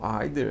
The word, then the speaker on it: either: O either aqui, ou either também, a pronúncia pode ser either também, principalmente no inglês americano, né?